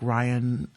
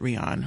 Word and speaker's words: Rion: Innovative and outstanding um I really like Ryan um actually pronounces it Rion Rion alakar Scott is a